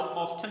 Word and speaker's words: often: अब एक American English का वर्ड है, एक मतलब प्रोनाउंसिएशन है, और एक जो है वो ब्रिटिश इंग्लिश की प्रोनाउंसिएशन है। सो हाउ ऑफन भी पढ़ सकते हैं और हाउ ऑफ्टन भी पढ़ सकते हैं।